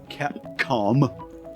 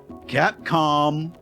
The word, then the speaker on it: Capcom: Capcom Cap can never say it right, bro. Capcom I always want to say con like it's a convention. Capcom, can't go wrong, bro.